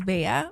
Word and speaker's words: Bea: In the Philippines, your name is um pronounced as Bea, but I think when I got here in Europe, they would say.